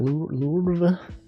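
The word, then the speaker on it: Louvre: You see that someone like uh there was like a burglary thing at the Louv L. You pronounce that lur.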